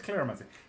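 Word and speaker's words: cleromancy: What is claromancy? Claromancy is spelled C-L-E-R-O. That's the one. Not clair. Not like clairvoyancy or claromancy or... No, what? Not clairvoyancy, clairsentience, clairgustance. Not like that. Claro as in C-L-E-R-O.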